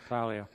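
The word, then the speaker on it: Salia: Martin Saleh, is that how it's pronounced? Yes, Saleh.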